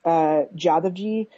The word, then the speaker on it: Jadavji: It's like pronounced Jadavji.